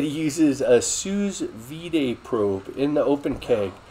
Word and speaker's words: sous vide: YouTuber JC Insaniac said he uses a sous vide probe in the open keg.